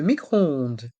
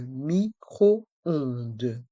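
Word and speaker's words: micro-ondes: lave-vaisselle le lave-vaisselle le micro-onde le microondde dans le mot micro-ondde les lettres o et n se prononcent on c'est une voyelle nasale et le S à la fin est mué le micro onde le micro-onde le réfrigérateur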